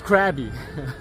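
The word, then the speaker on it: Krabi: It's actually Bugette, it's Krabby. Just plain straight Krabby. Or it could be Krabby, but I like Krabby.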